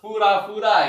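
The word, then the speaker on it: ふらふら: Terus fura-fura ya bukan pura-pura ya tapi fura-fura ya.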